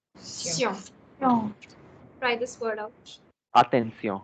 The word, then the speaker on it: attention: Now you have TION, SION, XION, and double SION also. These sounds are going to be sounded as a sion. Sion. Attention.